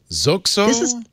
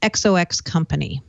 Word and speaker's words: XOXCO: Is it pronounced Zoxo? I asked. So Microsoft bought a company today, XOXCO. And the way to pronounce it is XOX Company.